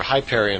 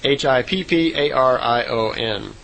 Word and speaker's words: Hipparion: And she said the horse back then was called a Hipparion, or Hyperion. I'm not sure exactly how it would be pronounced. It's Hipparion.